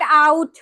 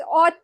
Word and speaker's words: ought: it's not out. It's not out. It's ought to.